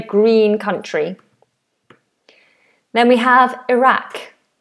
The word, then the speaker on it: Iraq: I definitely have heard this pronounced differently by Americans. Let me just check the standard American. Iraq. Iraq. Iraq. Iraq. Yeah. Same. Iraq or Iraq. For American for American English.